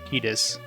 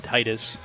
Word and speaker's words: Tidus: There's even in that little mini episode thing, they call him Tidus, so they pronounced his name Tidus. So that's clearly the correct pronunciation, but I'm for sure most people call him Titus. I know I personally call him Titus. I'll refuse to call him Titus. It just sounds wrong.